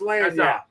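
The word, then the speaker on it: lagniappe: Lanyap. Lanyap. Don't listen to Doug. It's lanyap.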